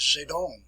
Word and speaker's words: Zedong: Sometimes it's referred to as, pronounced as Zedong.